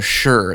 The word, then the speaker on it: Shure: of it yes we are talking about the sure that it's spelled s hu r e sm57 the industry